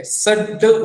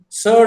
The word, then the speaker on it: sard: Now the same thing is pronounced slightly different. Sard ulainaka. Sard. There we don't say sad.